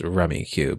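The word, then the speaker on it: Rummikub: in this movie never okay it's it's called rummy cube it is basically rummy uh like the card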